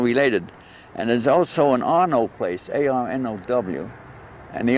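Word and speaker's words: Arnow: And there's also an Arnaud place, A-R-N-O-W. And the Arnauds, they were originally French, moved to England.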